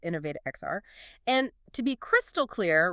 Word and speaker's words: Innov8XR: Uh that's pronounced InnovateXR.